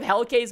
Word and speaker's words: Hellcase: Okay, I have played so many of Hellcase maps. I actually know how to pronounce his name right now. It's Hellcase.